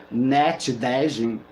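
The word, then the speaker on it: Ndengei: Na mitologia Fiji, Dejei, pronunciado Net Dejin, é um deus cobra.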